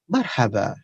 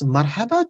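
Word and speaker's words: مرحبا: Now, if you see marhaba, I have put here apostrophe because while pronouncing marhaba, especially non-Arab people, the people who are residing in India and Bangladesh and this Asia part, what they do, they just pronounce it marhaba, R-H-A-Rah, marhaba, marhaba, marhaba. No, that's an improper, incorrect way to pronounce.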